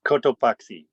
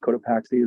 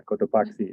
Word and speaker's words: Cotopaxi: Yeah, it is Cotopaxi. So we try to stay relatively true to the native Spanish pronunciation. But we don't judge. Cotopaxi is okay. Paxi, no judgment here. But yeah, Cotopaxi is the proper pronunciation.